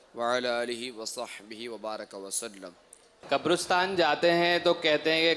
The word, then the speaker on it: قبرستان: اچھا، اس کا صحیح تلفظ ہے قبرستان، قبرستان نہیں، قبرستان.